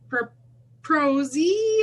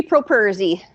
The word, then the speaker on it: Properzi: It's Tara from Sojourn Psychology, and I'm here with Proprozzi. Am I saying it right? It's Properzi. Properzi.